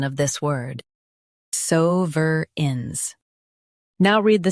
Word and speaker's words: sovereigns: sovereigns sovereigns Stress suhs and keep uh-rins light. It's a smooth flow.